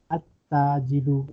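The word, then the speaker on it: التاجر: But in huruf al-shamsiya, you will not pronounce lam. At-Tajidu, lam is silent.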